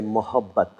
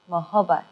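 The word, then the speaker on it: मोहब्बत: And if you feel being a little more generous and a little more gentle, then you say mohabbat. Mohabbat.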